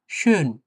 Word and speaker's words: schön: বলি সেটা হচ্ছে ডয়েচে schön। শোন না, একেবারে শোন না, schön। এই যে ওর উপরে umlaut আছে না? হ্যাঁ, schön। একটু মুখটা একটু গোল করে উচ্চারণ করলে অনেকটা সুন্দর শোনায়।